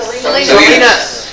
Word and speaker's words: Salinas: Salinas. Sorry, okay, California. Thank you, John Steinbeck. Isn't California, that's on the other side of the Hudson River, is it? George took a job after he retired from Salinas as a principal there, as the high school